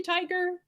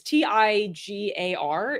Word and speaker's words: Tigar: Is it really Tiger? John Tiger? I mean, that's a cool. It's Tigar is his name.